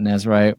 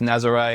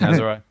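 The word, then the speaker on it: Nazaré: It's pronounced Nazare. Every Aussie wants to call it Nazar because we all want to make it sound European, but it's just Nazare.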